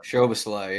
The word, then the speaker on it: Szoboszlai: 4, because you also have Dominic, however you pronounce, Solomzai, whatever. Szoboszlai, yeah.